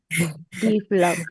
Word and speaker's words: develop: I-nya jangan dipanjangin, orang dia mintanya pendek. Develop. Develop. Develop. Develop. Develop. Nah, tadi dia bilang develop. Develop. Itu D-nya berarti di sini stresnya. Ini stresnya di tengah.